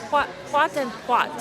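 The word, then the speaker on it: pot-en-pot: Okay, I was pronouncing it wrong. Pot and pot.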